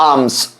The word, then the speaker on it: alms: So people ought to give आर्म्स, है ना। So give आर्म्स, ALMS, यहां L जो है वो साइलेंट है।